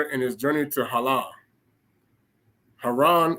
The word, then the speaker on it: Haran: Haran is actually pronounced Halah.